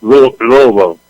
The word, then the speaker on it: Louisville: If you're from there, it's lovo.